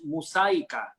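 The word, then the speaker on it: Música: experiences with Muzika, and I don't know if I've pronounced it right. I'm just going to pronounce it in Spanish. Muzika.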